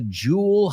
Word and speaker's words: jewel: La segunda E casi no se pronuncia ahí.